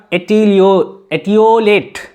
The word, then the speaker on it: etiolate: Next 6 number का word है हमारा एटियोलेट। देखिए कितना टफ वर्ड है, एक बार प्रोनाउंसिएशन में भी आप चक्कर खा जाएंगे। ETIOLATE, एटियोलेट।